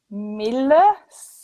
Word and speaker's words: Milius: There was Scorsese, Lucas, and John Milius.